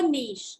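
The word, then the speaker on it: niche: ये वर्ड का प्रोनाउंसिएशन क्या है? सब लोग अलग अलग करते हैं, बट नीश इज the correct word.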